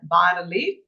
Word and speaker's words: bas relief: It is written bas relief but pronounced as bas relief, mid relief and alto relievo, depending on the depth.